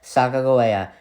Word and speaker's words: Sacagawea: was murdered shown native who you may know as sagagowaya yes her name is pronounced like that and yes this is